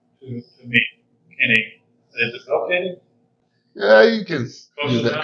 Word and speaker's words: Bowekaty: Is it Bowekaty? Yeah, you can use that close enough. What's a good pronunciation? Well, originally it's pronounced Bowekaty.